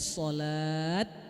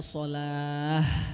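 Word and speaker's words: صلاة: Ketika berhenti bacanya sholat atau sholah. Sholah ya, pakai hak.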